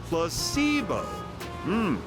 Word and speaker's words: placebo: word to our vocabulary today repeat after me placeo H the stress is on the middle syllable very good you're feigning interest well a